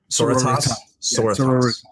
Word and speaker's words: Sororitas: Sororitas. It's sorority, but Latinified.